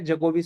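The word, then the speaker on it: Djokovic: डी जोकोविच नहीं है, जोकोविच सीधा है, डी साइलेंट है यहाँ पे, ठीक है।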